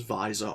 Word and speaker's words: Vyi'zur: of them together and come up with Vyi'zur with a silent Y. This is Vyi'zur, our bounty hunter.